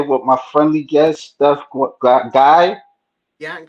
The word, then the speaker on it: Guay: and I'm here with my friendly guest Stu guy yeah gay gay oh gay okay is it French your